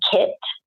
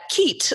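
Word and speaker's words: Keitt: actions the tents the kits and that's called key IET or key IT ok Kei ok ok yep ok and it's pronounced kit I've also learned something again because I've always pronounced that keet so it's actually kids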